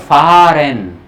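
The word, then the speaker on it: fahren: नहीं बोल रहा हूँ, फारन, फारन, फार। हल्का सा बोल के उसको छोड़ देना है वहीं पे, हल्का सा साइलेंट।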